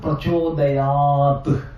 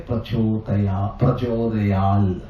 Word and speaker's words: Prachodayat: Instead of Prachodayat, they will say Prachodayal. The last T they will pronounce as L. But it is not allowed in Paniniya.